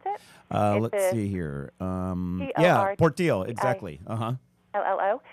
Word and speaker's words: Portillo: that how you pronounce it? Let's see here. Yeah, Portillo, exactly.